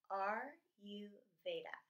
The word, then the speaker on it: Ayurveda: Ayurveda is pronounced capital letter R, capital letter U, Veda. R-U Veda.